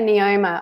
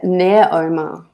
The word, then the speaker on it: Neoma: right yeah i say neoma i think it's actually greek and they would say um well near omar but i say neoma because i i wanted it to rhyme with neo news yeah so yeah she